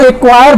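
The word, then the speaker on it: acquire: तब भी आप इसको एक्वायर बहुत आसानी से पढ़ सकते थे। देखिए यहाँ पे सी साइलेंट है जब सी के बाद क्यू आया है।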